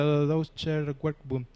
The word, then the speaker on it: Deutscher Werkbund: Bueno, y hay dos etapas importantes, el Art and Craft como antecedente y aquí no sé alemán, pero creo que se pronuncia Deutscher Werkbund.